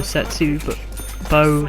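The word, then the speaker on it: Zetsubou: So Setsu Bo, that's how you pronounce it, Noshima, is set on the historical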